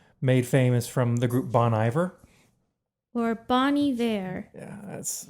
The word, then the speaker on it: Bon Iver: It's featuring and co-written by Justin Vernon, made famous from the group Bon Iver. or Bon Iver. Yeah, that's... I don't know the correct pronunciation.